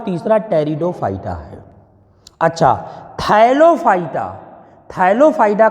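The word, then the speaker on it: Pteridophyta: तीसरे को रखा गया टेरिडोफाइटा इसमें साइलेंट होता है तेरी दो फाइव स्टार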